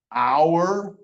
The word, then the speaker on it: hour: So there are times when the H is silent. I just showed you one with the G. There are other times, like in these words, the H doesn't say anything. Honor, honest, hour. H is just there.